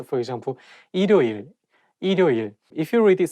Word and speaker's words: 일요일: When the word has the same syllable at the beginning and at the end at the same time, it's not easy to pronounce. For example, 일요일.